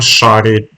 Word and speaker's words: Šarić: So the C on the C in my last name is pronounced as CH in English. So Šarić. Okay, Šarić. So Šarić is SH and CH in the end, but mine is just